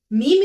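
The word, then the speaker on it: ميم: to the third latter which is mean is pronounced from the dry part of the lips in order to pronounce mean press the lips together and take the sound into the nose doing nasalization let's practice together meme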